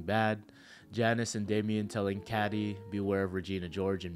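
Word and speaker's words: Cady: Janice and Damien telling Caddy, "Beware of Regina George" in Mean Girls, it's pronounced like Katie, and the death of Mufasa in The Lion King.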